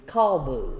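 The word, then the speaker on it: kolbu: looking at things the the dog was called the call boo if you want to spell that that would be k-o-l-b-u the call Boo that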